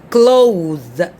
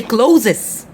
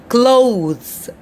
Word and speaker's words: clothes: vegetables vegetables all right we have another word close close we have the h right here and the accent of t h is the or the all right but right here we say clothed clothes but we don't say closes please for the god's sake not closes no clothes close all right comfortable